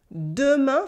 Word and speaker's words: demain: Demain for tomorrow is said demain, demain, demain. Again, we don't say the E in the middle.